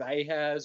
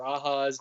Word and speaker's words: Ahaz: during the reign of ahaz or ahas depending on how you pronounce it um he saw his